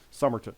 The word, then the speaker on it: Somerton: Maybe because my last name's 3 syllables. Somerton.